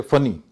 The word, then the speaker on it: funny: गया होता है कि जब एक लेटर दो बार आता है, कोई कॉन्सोनेंट जिसको कहते हैं व्यंजन, जैसे ए वोवेल है, बी व्यंजन है, तो कोई व्यंजन अगर दो बार आता है तो उसका उच्चारण डबल नहीं होता है, उसका सिंगल ही उच्चारण होता है। जैसे फनी, FUNNY दो हैं लेकिन फनी बोला जाएगा।